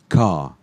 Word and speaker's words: car: Car, car. Car. There is the R is there, but you don't pronounce the R.